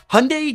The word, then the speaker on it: Hyundai: Hyundai Genesis. One of the last brands that you probably think of, and you shouldn't, is Hyundai, which rhymes with Sunday.